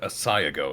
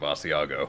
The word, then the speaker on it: Asiago: bagle it was for when you said asago instead of Asiago oh my God that's